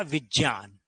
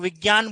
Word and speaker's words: विज्ञान: और इधर आ गया विज्ञान और यह बनेगा मनोविज्ञान हालांकि लोग विज्ञान बोलते हैं लेकिन शुद्ध उच्चारण है विज्ञान क्योंकि ज और य से बनता है ठीक है मनः